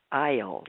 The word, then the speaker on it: Iyall: her name is uh Deora isle is that how you pronounce it it is thank you girl George